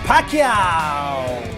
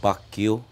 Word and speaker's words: Pacquiao: And finally, he is a five-time heavyweight eating champion, the pride of chicken, Manny PacQuiao. It's actually pronounced PacQuio.